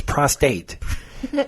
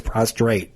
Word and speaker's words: prostate: No, it's prostate. They add an extra R. I'm sorry about your dad, but it's his prostate, not his prostrate.